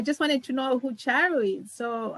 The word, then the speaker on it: Charu: I've got Charu, who's going to tell me how to pronounce her name from Singapore.